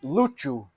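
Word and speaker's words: Lúcio: OverWatch is super racist it should be pronounced Luc luchu luchu luchu luchu I still have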